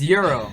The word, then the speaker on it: gyro: you know what's right not even pronounce gyro is its hero it's euro okay but I'm from [